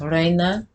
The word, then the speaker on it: reina: But you know how you say queen in Spanish, you know, you got rey for king, and for queen, it's reina, like my my great grandmother Rena, like for example, spelled like it's just the I, it's not there, and she died in 99.